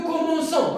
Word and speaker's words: commençons: rocher nous le verbe commencer attention c'est nous commençons regardez ici devant o devant a devant on écrit une CD pour prononcer ce pour prononcer ce donc on va